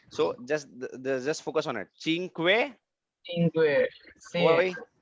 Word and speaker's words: cinque: CI is CI is chi, Sorry. correct. Cinque.